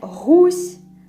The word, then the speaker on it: гусь: It will be the same, but first difference which starts here is how we pronounce G. In Russian it will be G, in Belarusian it will be H. We have goose, which is goose in Russian, and гусь, like H, white, yes, гусь, in Belarusian.